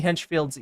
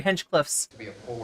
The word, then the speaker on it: Hinchcliffe: just the air being let out from Tony Hench Field's go probably sorry Hench Cliffs how much have I been mispronouncing his name right you have to hold